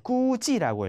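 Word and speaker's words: 估计: 이 단어를 이렇게 읽습니다. 네, 꾸지라고 읽어요.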